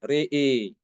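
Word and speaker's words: رأى: Kemudian juga Imam Ibnu Dakwan juga mengimalahkan ro dan hamzah ya, pada kata ro'a. Ro'a dibacanya re'i. Re'i kaukaba. Re'i aidihim. Re'i nara. Dibaca demikian.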